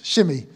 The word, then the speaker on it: Shimei: I'm pronouncing it Shimei. Is that all right? Is that okay, Aaron? Have I got that right? Excellent. Good. Shimei.